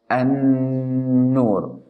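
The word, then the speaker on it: النور: So you should pronounce it like an-nur. So you pronounce the letter noon with haraka of fatha or fatha, and with stressed or emphasizing, and with ghunna. So you should say an-nur.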